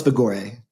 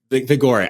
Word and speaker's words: Vigore: Mythos Vigore. Vigore. I knew I was calling it Vigor, and I'm like, I can barely speak English.